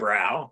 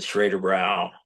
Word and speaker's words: Schraderbräu: Yeah, that's Hank Schrader in the show was a home brewer, and he called it Schraderbräu, rhyming with Lowenbrow because we use the